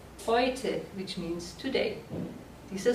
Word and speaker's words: heute: For example, if you talk about today, the word today, heute. So EU is pronounced like oi, heute, which means today.